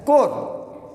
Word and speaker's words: corps: इट is spelled as CORPS but pronounced as कोर।